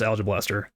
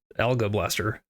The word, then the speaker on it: Alge-Blaster: So it's pronounced Al-juh-Blaster, not Al-guh-Blaster, but...